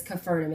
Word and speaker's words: Capernaum: israel or capernaum capernaum there's a couple different ways that it's said but it was confirmed by a franciscan friar to me that it is capernaum and that is how i will pronounce it going forward so we literally we